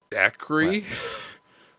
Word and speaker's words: Dacre: I don't know how to pronounce that. Dacre. Who? Dacre.